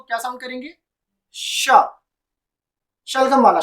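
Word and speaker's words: chat: यहाँ पे शेट का मतलब है कैट, शेट का मतलब है कैट। तो इसको हम क्या प्रोनाउंसिएट करेंगे, इसको हम शेट भी नहीं पढ़ेंगे, इसको हम पढ़ेंगे शा, शा विच मीन्स कैट।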